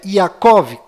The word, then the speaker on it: Yaakov: no final, e Jacó, que na verdade é Yaakov, com V mudo no final e a letra Y no lugar do J.